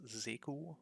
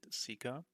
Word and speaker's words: Zeku: My name is Zeku, or as most of the English viewers might pronounce it, Sika.